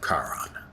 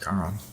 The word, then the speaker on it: Charon: Where do I look for the next obol of Charon? I think it's pronounced Charon. Most of my life I pronounced it Charon, but I think it's Charon, Charon.